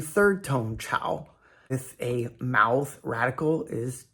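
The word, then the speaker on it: 炒: Chao or Chao rhymes with shao.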